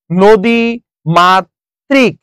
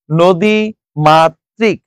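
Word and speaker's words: নদীমাতৃক: টা দুইবার উচ্চারিত হয়েছে নদী মাত্রিক নদী মাত্রিক যেহেতু ঋকার আছে সেজন্য কি হয়ে গেল এই ত টা দুইবার উচ্চারণ হয়ে গেল এরপর আসেন ব্রাহ্মণ এটা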